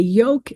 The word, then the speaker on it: yolk: And so if you think about the fact that the yolk is the yellow part of the egg, it gives you a way to understand why that L is there. It's not pronounced in that word.